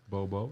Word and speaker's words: Beaux: Bobo, yeah. But Bo. Bo Lemer spelled Beaux. X high. That's the a crazy Louisiana one.